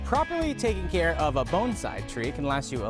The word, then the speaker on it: bonsai: you pronounce this art it's bonsai bones like a bone like your elbow bone inside bone size bonsai and another misconception is